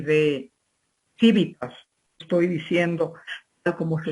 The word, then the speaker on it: civitas: Tenéis que saber que civilización deriva de cives, quiere decir ciudadano en latín, y de civitas, estoy diciendo tal como se escribe, o civitas, como lo pronuncian algunos latinistas, o civitas, la C latina, en esa doble pronunciación dependiendo